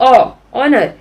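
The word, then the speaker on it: honour: ऑनर में भी, ऑनर में हम लोग ऑनर, एच हम लोग एच स्पेल नहीं कर रहे हैं तो इसके लिए एच इज साइलेंट ही है, तो उसके पहले भी हम लोग एन यूज करेंगे.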